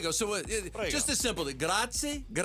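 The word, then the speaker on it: grazie: Gratzi. Gratzi. Gratzi. Prago. Moto Gratzi. Thank you very much. Moto Gratzi. Moto Gratzi.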